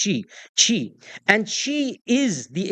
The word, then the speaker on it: Qi: had something called Chi it's spelled Qi it's pronounced chi chi and Chi is